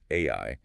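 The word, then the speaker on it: 愛: The Japanese kanji for love, which are pronounced AI, is built using exactly 13 strokes of the brush.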